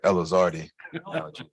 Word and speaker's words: Elizardi: We pronounce that Elizardi.